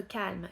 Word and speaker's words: calm: Être calme, to be calm. On ne prononce pas le L au milieu. Calm.